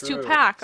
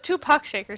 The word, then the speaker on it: Tupuck Shaker: uh two Puck Shaker I think I've been saying it wrong two I thought it was two pack oh well but it's two Puck Shaker sorry guys um yeah